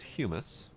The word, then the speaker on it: humus: Dirt we can use for, we can make, this is not hummus, this is humus. And I realized at some point in my life that there actually is a different pronunciation for the different items. Hummus is the hippie food, humus is the dirt-related product.